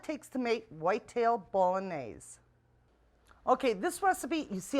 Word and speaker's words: bolognese: a recipe called whitetail bolognese that's pronounced ball on a's anyway with all the